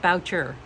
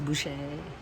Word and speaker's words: Boucher: Yeah, I was saying Boucher. Not Boucher. At least I was SHing it, but Boucher. It's Boucher.